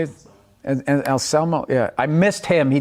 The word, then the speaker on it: Anselmo: It was Phil Alsamo, is that how you say it? And Anselmo, yeah.